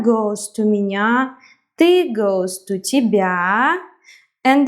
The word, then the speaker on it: меня: Like я goes to меня, я goes to меня, ты goes to тебя, and then we can make them as a couple. Меня rhymes with тебя.